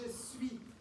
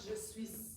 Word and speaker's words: je suis: The S here is not pronounced. It's written because it's part of the written word, but when you say it, you don't pronounce it. So you say je suis, not je suis.